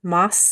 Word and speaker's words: Moss: that they knew Donald moss and it's pronounced Moss not mass I'm sorry I apologize